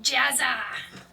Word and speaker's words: Jezar: Jezar, if you will. That sounds gross. It sounds better in Goblin. I mean, you're not wrong. It's pronounced Jazza, if you will.